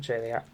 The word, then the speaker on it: Jliat: This is by someone known as Jliat or Jliat. I pronounce it Jliat.